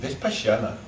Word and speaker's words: Vipassana: Vipassana.